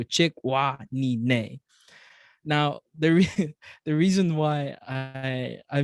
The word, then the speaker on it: Chikwanine: So the sound a horse makes, so chick, wah, knee, neigh.